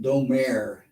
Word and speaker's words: Domergue: of her on IMDb she wanted to pronounce it Domer Domer okay yeah she was